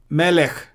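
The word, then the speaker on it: מלך: Second, the Shwa is silent when it occurs under the last letter. Derech, Melech.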